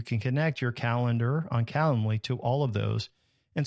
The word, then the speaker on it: Calendly: Then you can set up a tool like Calendly. It's like calendar, but not calendar. It's Calendly.